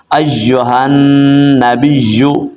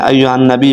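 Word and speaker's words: أيها النبي: النبی نہیں پڑھتے تو ایھا النبی پڑھیں گے تو غلط ہو جائے گا ایھا النبی اس کے ہجے کیسے کریں گے حمزہ یا زبر ای یا پیش یو ایو ہا نون زبر ہن ایھن نون زبر نا ایھن با یا دربی یا پیش یو کیا بن گیا ایھا النبی آگے پڑھیں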